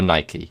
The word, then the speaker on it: Nike: Red Nike men's running shoes. So, or Nike, depending on where you're from and how you say it.